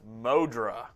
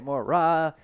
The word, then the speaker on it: Mora: Adam Sanchez says it's not Mora, it's pronounced Modra. I don't think so.